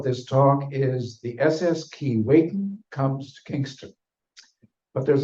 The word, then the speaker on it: Keewatin: More about that pronunciation later. We're going with Keewatin. Is that better? Yes, it is. In hopes that some bits